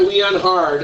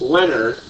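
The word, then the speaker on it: Leonhard: Yeah, it's not Leon Hard, it is Leonard, because he's Swiss. That's how you say Leonard in Swiss.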